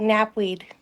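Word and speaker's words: knapweed: k k can be nap weed silent k very impressive that is an alpha move right there pulling out the silent k 10 here what's that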